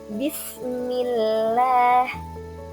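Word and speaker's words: بسم الله: Nah, di sini ada contoh Bismillah, Bismillah. Nah, Bismillah bukan Billah ya. Jadi kata lafaz Allahnya dibacanya tipis karena harokat sebelumnya adalah harokat kasroh.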